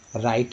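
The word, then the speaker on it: write: राइट लिखते हैं, ये तो सबसे कॉमन है राइट, तो राइट लिखते हैं तो आर आई टी नहीं लिखते, डब्लू आर आई टी लिखते हैं, यानी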